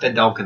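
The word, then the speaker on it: Vedalken: Yeah, it's pronounced Vendalken, apparently.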